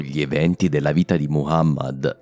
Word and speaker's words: Muhammad: La prima è proprio il nome più comune di tutti, Muhammad e non Muhammad. A quanto pare ho preso la pronuncia francofona del suo nome, scusate.